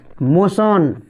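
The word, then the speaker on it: motion: देखो ट्यूशन हला तबरे मोशन मोशन एम ओ टी आई ओ एन मोशन इटा मोटियन नहीं बोलबो हला बुझि होइछ कि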